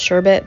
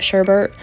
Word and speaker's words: sherbet: then um rainbow sherbet i know it's actually pronounced sherbet but we call it sherbert uh so i don't